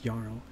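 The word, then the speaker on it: jarl: it's all everywhere that they pronounced the J like a y you'll notice that like yl right j a r l but it's yarl or here is it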